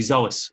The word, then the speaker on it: psoas: it's called azules psoas it's pronounced funny way see you soulless silent P yeah when they goes